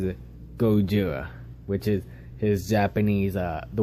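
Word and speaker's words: ゴジラ: And that is about Godzilla, or as he pronounces it, Gojira, which is his Japanese, the way the Japanese version of how it's supposed to be said. Not Godzilla, Gojira.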